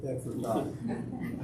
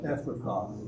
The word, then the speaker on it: Ephrathah: How do you pronounce that name? I'm not going to. Ephrathah. Huh? Ephrathah.